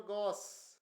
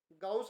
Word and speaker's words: गॉस: तो वैसे ये टेस्ला है, और एक टेस्ला बराबर होता है 10⁻⁻⁴ गॉस। गाउस नहीं, गॉस। ठीक है, इसको सही करना प्रोनाउंसिएशन, गॉस है, गाउस नहीं है साहब।